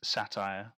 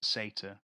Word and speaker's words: Satyr: I would have read that as satire, but on their page they say that it's pronounced satyr.